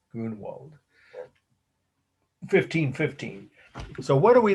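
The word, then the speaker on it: Grünewald: the artist's name was grunerwald or grunwald um i used to pronounce it with the e the germans would say goona walt g he was german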